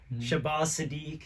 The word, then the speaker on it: Shabazz Sadiq: right, well, we have Solomon Sanchez, Shabazz Sadiq. Yes. Is that how you pronounce it? Yes, man, you got it right.